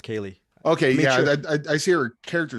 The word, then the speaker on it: Kali: Yeah, it's spelled like Kali, but it's Kali.